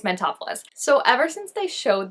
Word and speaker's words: Mentopolis: I look at it I want to say mental polis which is not correct it's mentopolis like Metropolis it's not Metropolis as much as I again want to say that it is it's mentopolis so ever since they